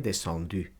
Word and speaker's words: descendu: El verbo 10, descendre, cuyo participio va a ser descendu, se pronuncia descendu.